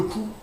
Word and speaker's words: cou: And le coup, but without a P, is the neck. Le coup. So these are pronounced the same way, but because you.